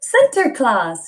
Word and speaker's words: Sinterklaas: name it's not white it's not p center center class yeah remember we said another one say santa